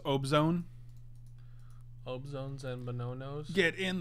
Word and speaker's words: Abzan: It's pronounced Obzone.